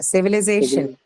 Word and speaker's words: civilization: Then we go to the next one, which is civilization. Syllable.